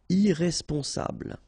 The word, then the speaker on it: irresponsable: Don't pronounce the final E. Bl, bl will be the last sound. Sable. Irresponsable.